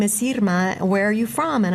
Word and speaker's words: Irma: I know that when people see it spelled I-R-M-A, many people will say Irma. Mm-hmm. And if that's how someone says her name, that's totally okay. But my name is pronounced Irma.